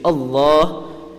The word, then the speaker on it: Allah: I mentioned this yesterday Allah is pronounced Morocco is pronounced full mouth Allah because it has a Fatah or Adama before it so when pronouncing Allah